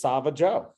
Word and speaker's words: Savageau: ice cream and the name of that is sava Joe it's great to say spell it for everybody who's listening it's s-a-v-a-g-a-u um